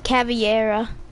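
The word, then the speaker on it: Caveira: and prone and um telling you how to pronounce it but it's caviar caviar sorry i'm i haven't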